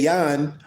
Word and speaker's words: Jan: Remember, in a Hebrew dialect, it never was a J. It always was a Y. So I'll say Jan or Jan Verslet, Verelst.